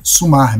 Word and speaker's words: somar: Escreve-se ortograficamente com a letra O, mesmo que pronunciemos sumar, mesmo que os galegos pronunciem sumar, a escrita é com O.